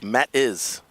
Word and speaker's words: Mattis: And I apologize on the mispronunciation of Matts. It's Mattis.